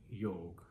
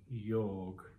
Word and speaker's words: yoga: to do with yog it's something that was bastardized by the western world by the westerners who are clueless about pronouncing the right way and in typical western aping fashion the indians adopted it as well and started mispronouncing it something that was inherently part of their own culture and yet they were as clueless about this simple word the simple pronunciation as the westerners because they of course assumed that the westerners know better yog yog yoga